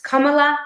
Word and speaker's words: Kamala: don't be that person it's kamla Harris it's kind of like Kama plus La it's not pamelo with